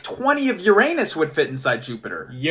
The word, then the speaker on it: Uranus: Dude, did you know that 63 Earths could fit inside Uranus? Excuse me? Yeah, the outer planets are huge, man. Oh, please pronounce it Uranus from now on.